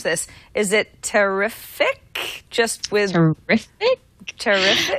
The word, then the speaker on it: Terefic: going to try to pronounce this is it terrific just with terrific terrific t r e t e r e f i c terrific I would say so terrific this is a